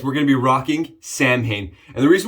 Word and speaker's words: Samhain: Today, guys, we're going to be rocking Samhain. And the reason we're doing Samhain or Samhain, right, phonetically versus how you actually say it, from Southern Witchcrafts is because it's October and it's my favorite.